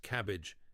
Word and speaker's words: CABG: Coronary artery bypass grafting or CABG, pronounced cabbage in the cardiac world.